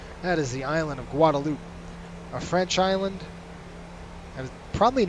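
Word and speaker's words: Guadeloupe: just say guadaloop and I hear a lot of people say Guadalupe it's not Guadalupe that's silent all right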